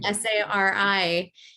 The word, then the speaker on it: Sari: It's so hard to explain that to people too, because it's spelled Sari, and I always have to explain it's like Mary, but with an S and an I I.